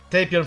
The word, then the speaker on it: Tapion: my favorite character is tapia tapion tapion everyone pronounce it tapion from the movie it was wrath of the